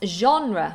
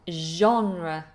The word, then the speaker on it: genre: Genre, je. I think this is a French word. It sounds very French with that very French sounding je, like je m'appelle Anna.